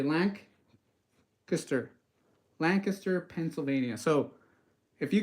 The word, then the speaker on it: Lancaster: saying Lancaster it's Lancaster Lancaster so you say Lank kister Lancaster Pennsylvania so if you guys are from